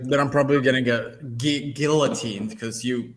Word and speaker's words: guillotine: I'm probably gonna get guillotine because you it's a it's not a silent L apparently when you're in New York guillotined for um I'm